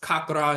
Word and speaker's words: chakra: later Shakra but is still pronounced kakra in certain dialects in India kakar comes from kakar